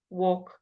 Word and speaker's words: walk: Okay, all A-L-K, all sounds, all, chalk, walk, talk.